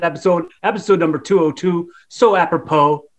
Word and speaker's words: apropos: So apropos, like fits that, like the number.